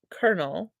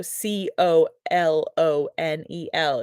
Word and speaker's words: colonel: Colonel pronounced colonel. So C O L O N E L is pronounced colonel with an R.